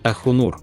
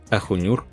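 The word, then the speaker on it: Ahunur: Y, por cierto, es correcto, es Akhunr, no Akhunyur, como a veces se escribe.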